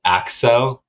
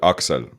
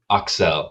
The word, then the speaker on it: Axel: like offend you but is it axo no it's uh aksal aksel yeah okay yeah i was